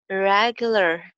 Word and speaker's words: irregular: irregular in shape, irregular, irregular mein iski pronunciation bhi dekhni hai aur sath r sound ka bhi dhyan rakhna hai aur l ka bhi, irregular, irregular, aur ending sound in ke andar link kar jayegi, irregular in, irregular in